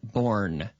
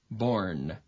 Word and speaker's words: born: pronunciation of this n born born born so we don't we don't close our lips right right so can